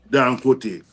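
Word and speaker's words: Dangote: You know, there's a Nigerian man, we call him Dinko, how you pronounce his name, Brother Kwasi? Or he owns the refinery in Nigeria. Dan Kote.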